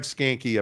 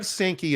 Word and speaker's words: Sankey: is SEC commissioner Greg skanky a villain or sanki sorry sometimes it just mispronounces me uh is Greg sanki a villain he did a a whole thing